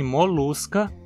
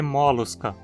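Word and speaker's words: Mollusca: Em molusca, a penúltima sílaba termina em consoante, por isso a gente não pode dizer molusca. Molusca é a única opção viável.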